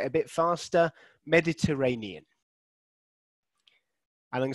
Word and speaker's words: Mediterranean: ray so it is it's on the fourth syllable um so i can just annotate on here uh let's i can draw mediterranean so it's actually this syllable here which i've underlined so we've got a six-syllable word with the stress on the fourth word okay mediterranean the mediterranean